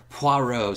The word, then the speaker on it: Poirot: many different ways Alex you said it right Poirot so detective Poirot played by Kenneth Branagh he